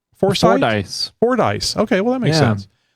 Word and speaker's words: Fordyce: Fordyce. Fordyce. Okay, well that makes sense. Mm-hmm. Just if they had put an I in there, I would have had a better chance.